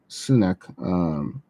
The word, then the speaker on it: Sunak: Am I pronouncing his name right? Sunak, the Prime Minister.